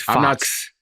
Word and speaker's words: Fuchs: I got a friend whose last name is spelled the same way, and it's pronounced Fox.